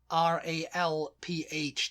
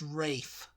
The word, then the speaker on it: Ralph: people who want to who want r-a-l-p-h to be pre be pronounced rafe you know there's a p there's a few people it's not just ray fines who likes that yeah everybody else is it's not rafe it's ralph rafe i mean well